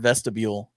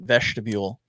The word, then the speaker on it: vestibule: heck that is um jeremiah loves to add an h to the word vestibule and pronounce it vegetable and sometimes it sounds